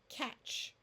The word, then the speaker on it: catch: a short vowel sound so catch notice the t is silent I like to think of the T as a shield protecting the CH which is scared of short vowels catch here we have